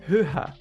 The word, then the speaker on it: höher: Hoch es una palabra que se convierte en höher. Es un poco jodidito de pronunciar, no se los voy a negar. Höher ya no tiene una letra C.